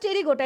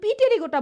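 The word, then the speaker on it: Pterygota: Subclass টেরিগোটা। এটা কিন্তু পি টেরিগোটা বইল না। এটা পিটা অনুচ্চারিত হবে।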